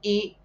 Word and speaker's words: e: van a saber que la conjunción I se pronuncia igual en portugués I, y se escribe e sin ningún acento. Siempre que vean una e sin ningún acento solita, quiere decir i y se pronuncia i.